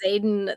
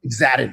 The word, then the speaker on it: Xaden: You're calling Xaden something. Exadin. I was calling him Exadin.